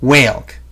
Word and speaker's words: whalg: This is pronounced wa, and this is pronounced ailg. So together, they make the word whalg.